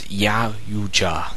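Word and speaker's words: Yautja: or hish culture they it's yahua that's how you pronounce it that's their name their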